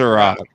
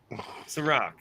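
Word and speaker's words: Cîroc: How do you pronounce Ciroc. it, Casey? Ciroc. Ciroc.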